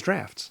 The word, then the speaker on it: draughts: No, I think it's drafts.